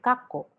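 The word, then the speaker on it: かこ: important notice the examples we have the word kako which means past but if it is turned into double consonants kakko that will mean now brackets and if it is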